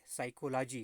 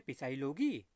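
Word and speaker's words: psychology: साइकोलॉजी। कुछ लोग कहते हैं पिसाइलोगी, पिसाइलोगी नहीं भैया, ये साइकोलॉजी। क्या है? पी यहाँ पे साइलेंट है।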